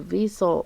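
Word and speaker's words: Wiesel: by eli diesel it's spelled with a w vessel um anyway you can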